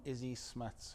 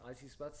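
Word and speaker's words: Isie Smuts: And let me guess, from Izzy Smuts herself. From Issy Smuts, I think it's pronounced Issy Smuts, Smuts's wife.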